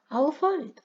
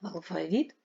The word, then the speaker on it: алфавіт: комбайнер мабуть і мабуть в українській мові існують Слова які мають два наголоси подвійний наголос це означає що слово буде правильно звучати і в значенні звучанні алфавіт і взнавучанні алфавіт і так само з кожним цим словом Ну наприклад завжди і